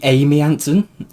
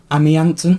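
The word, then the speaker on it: Mamie: You know, in the first book, we had Amy Anonson, but is it meant to be Amy Anon? Ami Anon because it's M A M I E.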